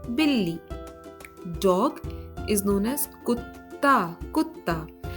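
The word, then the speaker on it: कुत्ता: Dog is known as kutta, kutta. Now here the pronunciation of T is not T, but the pronunciation of T is similar to that of T in the word pasta, pasta.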